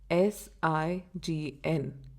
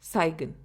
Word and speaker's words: sign: We spell it एज SIGN, but we pronounce it as sign instead of saigon.